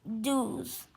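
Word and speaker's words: douze: and 11 is pronounced owns and 12 is pronounced dews and 13 is tres tres or tres well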